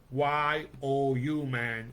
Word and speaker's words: UMAN: It's spelled UMAN, but it's pronounced YOU, man, because we need you, man, and women to make this thing happen.